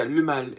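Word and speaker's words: Le Male: But yeah, le mal is the correct pronunciation.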